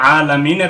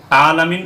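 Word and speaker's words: العالمين: মারাত্মক ভুল তাহলে এখানে অবশ্যই আইনটাকে সঠিক ভাবে উচ্চারণ করতে হবে হামজা হচ্ছে উচ্চারণ করা যাবে না আলামিন উচ্চারণ করা যাবে না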